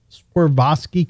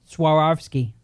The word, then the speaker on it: Swarovski: How do you say it, Joe? Suaravski. Okay. I said what did I say? Something Russian. I said Swarovski. It's very close.